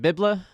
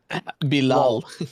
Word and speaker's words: Bilal: Is it Bibla? What? How do you say his first name? I know it's Coulibaly. Bilal.